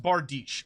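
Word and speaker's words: bardiche: they can get pretty pretty pretty good it's pronounced bardish okay thank you armored C with spear already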